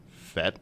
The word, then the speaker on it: Fete: So and you're playing the Fete Music Hall?